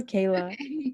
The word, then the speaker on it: Kayla: I'm like, is it Kyla or Kayla? Kayla, yeah. Yeah, I'm sorry.